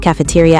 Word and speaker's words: cafeteria: Are you asking about a beer called Cafeteria IPA? No, I might be able to give you information about it. I just look up the dictionary. Cafeteria. Cafeteria. The third syllables are first stress, not cafeteria.